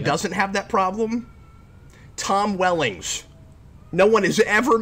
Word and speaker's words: Welling: Tom Wellings. No one has ever mispronounced his name. Is it Wellings? I thought it was Wellings. See, now I would have been wrong. No, it is Welling.